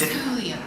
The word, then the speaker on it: Julio's: No, it's Julio's. It's spelled with a J. It's Julio's.